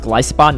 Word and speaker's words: Golisopod: Okay, first off, apparently this is pronounced Golisopod, not Golisopod.